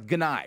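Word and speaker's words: Gennai: The woman you heard in that video that we just played you is Jen Ganai, I think is how you pronounce Ganai. Rhymes with hentai.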